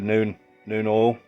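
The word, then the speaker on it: Nuln Oil: Then to get the darkness in the crevices, I've used the Citadel colour shade, the noon oil. That's how you pronounce it.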